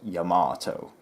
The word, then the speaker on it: Yamato: then suddenly a staff member said actually it's pronounced Yamato and that just killed me on the inside